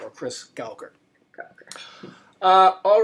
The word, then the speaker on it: Gauker: And I'm Gauker, or Chris Gauker. Gauker.